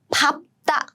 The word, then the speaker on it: 밟다: But there are some exceptions. It comes here because of the exception. So the exception is 밟다. You stamp on it.